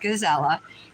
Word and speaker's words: Gisela: I'm sorry, it's pronounced Gizella.